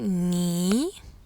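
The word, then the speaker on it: 你: tu donc le pronom personnel tu ni est prononcé ni vous poli se prononce nine nine on voit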